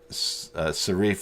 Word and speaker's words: serif: Uh-oh, Vinny says serif rhymes with barif.